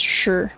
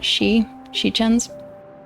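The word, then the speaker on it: 时辰: I'm amazed that they pronounced "sure" correct. Normally people would pronounce that shichens, but that would not be correct. I think XI, she, would be correct, but SHI is always sure, which is weird.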